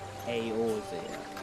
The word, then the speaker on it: Eorzea: forest in all Eorzea, or Eorzea, that's how you pronounce it.